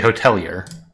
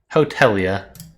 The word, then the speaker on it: hotelier: the american pronunciation okay in american you say hotelier now now tell me british hotelia okay i don't know the french people would like el yay there's a practice button